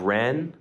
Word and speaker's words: Rennes: Now we have Rennes against Reims. And two different Rennes, N-N, Rem. I-M. I know, two very, very close, but not close enough.